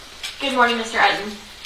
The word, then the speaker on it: Utton: My name is Eden. Uh, last name is spelled U T O N is just like button, but there's no B.